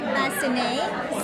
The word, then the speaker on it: Basinet: How do you pronounce the last name again? I'm sorry. The last name again? Basinet.